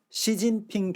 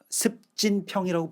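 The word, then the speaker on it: 习近平: 등소평으로 부르던 시절이 있었습니다 그런데 우리가 시진핑 주석 같은 경우에는 습진평이라고 부르지 않죠 절대로 시진핑이라고 하는 어떤 정확한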